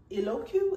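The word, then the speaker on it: Eloquii: well and this is by the company eloku eloku is spelled e-l-o-q-u-i-i eloku elements and I got this in a size 16.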